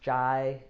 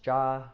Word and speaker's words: chai: we have JA frequently and it's not pronounced chai it's it's JA right and so I